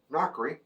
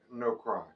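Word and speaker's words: NoCry: And the actual name, which I thought was Knockery, turns out to be No Cry.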